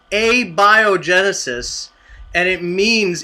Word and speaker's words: abiogenesis: no anybody else yeah mark you're all mispronouncing it it's a biogenesis and it means it's